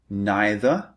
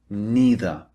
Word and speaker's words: neither: You can say neither or neither. These are the 2 alternatives.